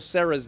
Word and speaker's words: Cera: Well, this is interesting because my first question was, how do you pronounce Michael Cera's name?